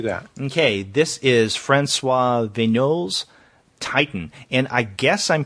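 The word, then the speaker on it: Vignault: okay this is fris venol Titan and I guess I'm pronouncing the last name correct it's v g n a u l t so VG venol that sounds good to me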